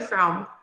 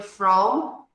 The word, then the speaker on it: from: Então, where are you from? E quando fala a palavrinha from, lembra sempre de pronunciar a letra M com os lábios fechados.